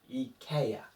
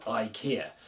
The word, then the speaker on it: IKEA: And this E should be the same as in elephant. So it should be air. So I should have asked for E IKEA. IKEA instead of IKEA.